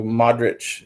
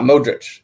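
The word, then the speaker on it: Modrić: It's mod as in Discord mod. Mod. And just rich. So Modric is how you say it. Oh, not Modric.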